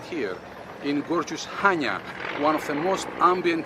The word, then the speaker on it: Chania: sealed spelled with i c-h-a-n-i-a so it makes perfect sense that you say chania which simply confuses everyone the c is silent and the proper way to say the word is hanya hanya has a remarkable